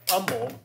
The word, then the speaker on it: Humble: Oh, well, there's Humble. Right? Yeah. That's, a lot of people pronounce the H and it's not supposed to be.